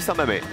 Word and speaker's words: Saint-Mamès: Eh bien, en fait, j'ai décidé d'aller à Saint-Mamès. À Saint-Mamé? Ah oui. Ça s'écrit Mamès, mais on dit Saint-Mamé.